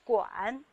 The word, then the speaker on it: 馆: 这个字念馆，它的韵母是前鼻韵母俺，茶馆、图书馆的馆。